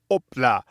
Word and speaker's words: hop là: In French, they also say allez, allez, hop là.